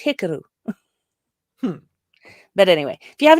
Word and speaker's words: Hikaru: educate all of you when in doubt put the emphasis on the first syllable because like it really especially with names it is respectful to learn how to properly pronounce someone's name and yet i see people slaughtering japanese names all the time so like there's a japanese name that's hikaru which people always say hikaru no that's not it it's hikaru but